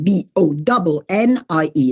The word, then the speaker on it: Bonnie: Bonnie, B-O-N-N-I-E, cioè B-O-N-N-I-E, that's my name. Everybody says Bonnie. No, it's Bonnie. It's pronounced like one N.